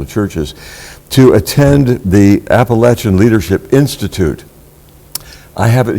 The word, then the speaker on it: Appalachian: in our area called Appalachian. Yes. And everyone wants to make sure that you get the strong CH in there for Appalachian.